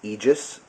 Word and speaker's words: Aegis: you can see there and that is the egis and that's how that's pronounced AE g- s is egis I believe um it's a Greek word for